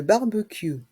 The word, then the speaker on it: barbecue: PL les plantes le barbecue le barbecue dans le mot barbecue le C le U se prononce que et le E à la fin est muet le barbecue le barbecue